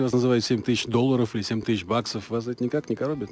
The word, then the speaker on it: 7000$: тема Если хотите запоминайте 7.000 баксов пишется 7.000 долларов а произносится 7.000 баксов кстати тема интересная Почему